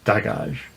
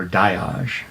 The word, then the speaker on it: Dagaz: eighth next up is Dodge or a die in some pronunciations and this room literally